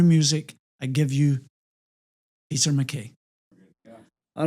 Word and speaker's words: MacKay: And so MAC got shortened to MC, which got bastardized to MacKay, but the real pronunciation is Mackay.